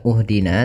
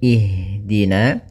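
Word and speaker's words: اهدنا: Apabila huruf ketiganya fat e maaf kasrah atau fathah, maka kita baca hamzah di awal hamzatul wasalnya itu kasrah. Maka kita baca di sini bukan uhdina tapi ihdina.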